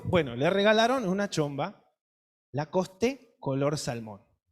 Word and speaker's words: Lacoste: regalo era una chomba lacoste se pronuncia lacoste no la es el final es muda pero nosotros leemos lacoste